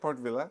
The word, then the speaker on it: Port Vila: Yeah, That's how they say it, Port Vila.